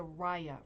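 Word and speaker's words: rya: It's a raya rug. If you are not familiar with raya rugs, we are about to hit raya rugs hard. Raya is spelled R-Y-A.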